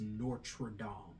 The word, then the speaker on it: Notre Dame: And Well, the correct pronunciation is Notre Dame.